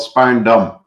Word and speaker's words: Spaarndam: You want to go to that course in how do you pronounce it? It's a very small town near Haarlem, but it's called Spaarndam.